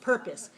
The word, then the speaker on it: purpose: for teaching this class purpose in this word how many syllables do you hear two purpose good which syllable has the weak valve okay second syllable is weak so now i'm asking